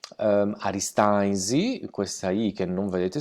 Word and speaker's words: Aristanis: interessanti avevamo scritto aristanis la pronuncia in sardo alla nostra pronuncia di oristano per il nome stesso è arista easy come vedremo in questo breve so che vi presenterò spesso le n all'interno dalla parola per noi spariscono arista nancy questa iii che